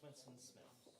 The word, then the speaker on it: Winston P. Smith: The P is silent. Okay, gotcha. Just Winston Smith.